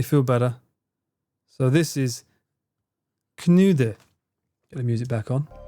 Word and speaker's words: Knödel: So you don't pronounce the L, and the O with 2 dots is U. Knude.